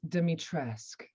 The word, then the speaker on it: Dimitrescu: demitrescu i'm sure you've heard all kinds of pronunciations of that name over so close like i a for efforts so so close demitresque yes you gotta have that and i don't